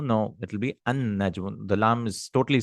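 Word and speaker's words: النجم: You're not pronouncing the lam, right? The sun burns away the lam. You can remember like that. Shamsiya means the lam goes away. So najmun, a star. An-najmu, not al-najmu.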